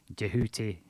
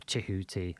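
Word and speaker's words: Djehuty: Tarth his Greek name jehuti or chihuti or tuti base DJ e h u t y here was the principal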